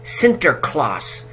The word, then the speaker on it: Sinterklaas: Nicholas as a gift giver, so they retained Sinterklaas, which is the Dutch pronunciation of St. Nicholas.